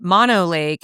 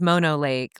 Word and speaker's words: Mono Lake: about it, but just like it's it's not Mono Lake, it's Mono Lake. Like the whole like mono mono um the way it's pronounced is like Eastern Sierras.